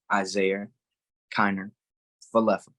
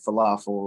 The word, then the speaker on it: Isaiah Kiner-Falefa: That's how you say his name, Isaiah Kiner-Falefa, not falafel, like, or whatever you were saying on first take.